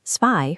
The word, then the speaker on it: zwei: This gives us zwei for two and zehn for 10.